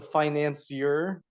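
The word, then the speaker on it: Financier: now by Theodore drier the finance year that's how you say it Finance year Finance year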